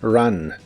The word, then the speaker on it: run: El verbo correr en el presente de inglés es run. La R de inglés es muy suave y la U de esta palabra se pronuncia como una A normal. Run, run.